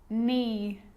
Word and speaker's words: knee: A K is not pronounced when it comes before an N, like knife, no, knee, knock, not, knowledge.